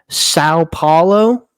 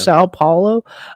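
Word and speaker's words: São Paulo: They're playing in Sao Paulo. I think Brazil. that's how you say it. Yeah. Sao Paulo.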